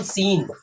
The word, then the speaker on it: scene: जैसे एक होता है SCENE, तो यहाँ भी देखो लास्ट में ई है, यहाँ एस साइलेंट रहता है, तो इसको बोलते हैं हम सीन।